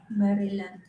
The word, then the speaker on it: Maryland: I said, "No, I never been that Filipinos they pronounce things as they see it." Like you see Mary and then lamb. So they say Mary land not Maryland.